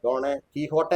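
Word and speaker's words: Don Quijote: ഡോണെ കീഹോട്ടെ എന്നൊക്കെയാണ് എന്റെ ശരിക്കും ഉച്ചാരണം. John ക്വിക്സോട്ട്, കീഹോട്ടെ.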